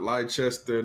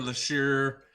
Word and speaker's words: Leicester: Not Leicester, not Leicestershire. Leicester, Worcestershire.